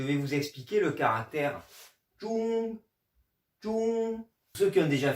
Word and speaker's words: 钟: vous expliquer le caractère Zhong, Zhong. Ceux qui ont déjà fait les pays, ça ressemble étrangement à la prononciation du Zhong de Zhongguo, du mot Chine.